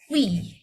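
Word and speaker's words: 위: Ui, ui, wi. Jadi bacanya wi.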